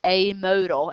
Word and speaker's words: amodal: That's how you pronounce it, amodal, if it has no mode.